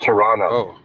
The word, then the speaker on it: Toronto: you're a foreigner cuz you pronounce the second T the the last T it's just Toronto oh okay then you